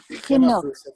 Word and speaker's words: Chinuch: Can you pronounce it? Chinuch.